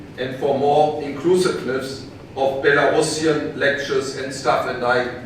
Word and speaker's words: Belarusian: for more inclusiveness of Belarusian lectures and staff. And I got to know today that one has to say Belarusian and not the other pronunciation.